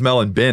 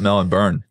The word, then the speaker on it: Melbourne: mel and ben oh it's melon bin not mel and burn yeah yeah maybe this